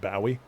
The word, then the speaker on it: Bowie: Although apparently that should be pronounced Bowie.